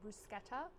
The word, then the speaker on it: bruschetta: Do you say bruschetta or bruschetta? I've heard both ways. I think everybody's heard both ways, and I've heard that the correct pronunciation is bruschetta, though I have just grown up saying bruschetta, so that's what I'm gonna say.